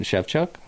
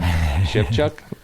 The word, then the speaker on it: Shevchuk: up there, but in the ballpark of Jason Shevchuk of None More Black and... All right. Jesus, a few other bands. I had no idea how to say his last name. Shevchuk.